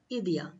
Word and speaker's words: idea: is called in spanish idea is called idiya so how will you say